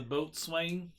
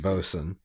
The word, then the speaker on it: boatswain: I think he means a boat swing. Yeah, one of them. Is that actually how you pronounce that? Because No, you actually boatswain. pronounce it bosun.